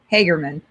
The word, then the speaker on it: Hagerman: Hagerman.